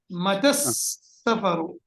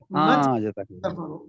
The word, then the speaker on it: متى السفر: When you pronounce it, you're going to join them together. So you will say, Mata as-safaru. Mata as-safaru. Because this alif is Hamzatul Wasl, the Seen is Harf Shamsi, so you will say,